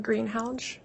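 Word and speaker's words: Greenhalgh: honor would you please state your name and spell it for the record greenhounge a-l-y-s-s-a and the last name is g-r-e-e-n-h-a-l-g-h where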